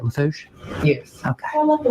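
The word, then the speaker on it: Lafourche: And am I saying it right, Lafouche?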